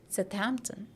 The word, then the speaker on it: Southampton: you a place name this is not Southampton but it is sthampton sthampton got it so that